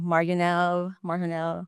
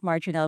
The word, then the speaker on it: Marjonel: So, as you can see from my name, my first name has an English pronunciation, and my surname has a Spanish pronunciation. So, they have different standards, different naming convention. So, I have people saying my name, Marjonel. So, no, it's not that. It's Marjonel.